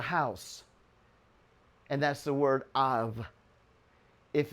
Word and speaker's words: Av: And that's the word Av. If it's personal to you, you'll add a second bull, and then you pronounce it Abba.